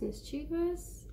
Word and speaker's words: mischievous: it it's a Mis CH ie V IOUs mischievous oh my god you know what I'm gonna